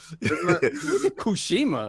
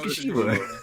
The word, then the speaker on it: Tsushima: Kushima. I like how he said it. It's Ghost of Tsushima. Ghost of Tsushima sounds like Tsushima.